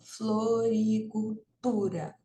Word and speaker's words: floricultura: ter logo em seguida floricultura ó floricultura vejam que aqui a sílaba tônica né Ou seja a sílaba mais forte é o tu floricultura então e a